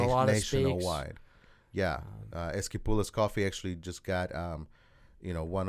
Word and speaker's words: Esquipulas: Esquipulas.